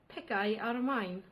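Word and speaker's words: picau ar y maen: very dear friend to see how they would pronounce Welsh cakes. Picai ar mine.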